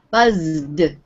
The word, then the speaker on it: buzzed: Buzzed. You'll notice the sound at the end of the word is D.